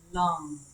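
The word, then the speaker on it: Lam: Lung, The mantra actually sounds like those organs we breathe with, even though it's spelled L-U-N.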